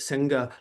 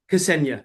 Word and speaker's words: Ksenia: say this name wrong, but Senga Logos. Ksenia, Ksenia that's Logos.